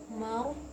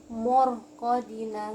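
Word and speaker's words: مرقدنا: Marqadina. Oke. Jadi cara membacanya marqadina, ro-nya tebal. Ro tebal, huruf mim tuh tipis, mim. Jadi jangan sampai morqadina, enggak, marqadina, ma-nya tipis hurufnya tapi ro-nya tebal ya.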